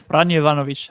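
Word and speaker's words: Franjo Ivanović: you pronounce the Croatian, you nailed the Croatian one. Franjo Ivanovic absolutely nailed it.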